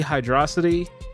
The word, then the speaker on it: Hydrocity: It's supposed to be Hydrosity, and Google's doesn't say that's not a word, so that's how I'm pronouncing that stage.